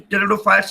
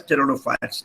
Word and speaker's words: pteridophytes: coop near pronounce cannot P is silent a war pronouns Nicaraguan